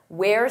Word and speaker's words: we're: Notice that pronunciation. Where? We're students. They're tired.